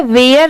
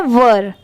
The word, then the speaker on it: were: बहुत सारे लोग इसे गलत प्रोनाउंस करते हैं, इसे वेयर नहीं पढ़ेंगे। बहुत सारे लोग इसे वेयर ही पढ़ते हैं, बट इसकी करेक्ट प्रोनाउंसिएशन है वर, वर।